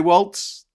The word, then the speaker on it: Walz: For some is saying Z is pronounced TZ in Germanic languages. So if your man is faithful to his ancestry, there is no need for a T in Waltz. So we can say Waltz, more than one Walter, Walton, Waltz.